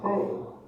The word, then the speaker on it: 清: The third character is pronounced as sei, meaning purity.